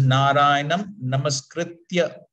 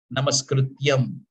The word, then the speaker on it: Narayanam Namaskritya: So please note it is Narayanam Namaskritya. Many times Bhagavatam speakers, while offering this praise, they say Namaskrityam, to rhyme with Naram Chaiva Narottamam, Namaskrityam Narottamam.